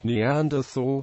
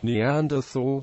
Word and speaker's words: Neanderthal: the International Phonetic Alphabet in British English Neanderthal is pronounced with the t as in German with different vowels in layman's American English Neanderthal is pronounced with a